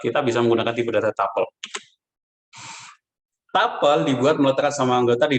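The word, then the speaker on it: tuple: ada tipe data lain namanya tapel bacanya tapel atau mirip dengan list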